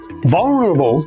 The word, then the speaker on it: vulnerable: Vulnerable is an adjective and the word has four syllables. Listen to me stress the first syllable in the word.